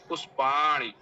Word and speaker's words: पुष्पाणि: होना तो बोल ही रही है, मूर्धन्य णकार तो उच्चारण कर ही रही है, पुष्पाणी नहीं बोली वह।